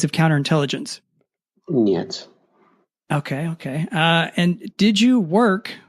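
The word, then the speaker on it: нет: And no is niet.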